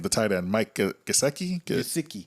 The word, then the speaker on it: Gesicki: You know how to say his last name, the tight end, Mike Gesicki. Gesicki.